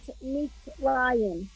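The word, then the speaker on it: מצרים: Okay, so that's when the little yud is pronounced like a Y. Yeah. Yep. Yeah. Hot. Yep. Mitzrayim. Yeah. Yetziat Mitzrayim.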